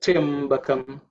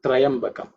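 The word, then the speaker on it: त्र्यम्बकम्: Like Triambakam. Okay. It's not Trayambakam. Okay. Triambakam or Triambakam.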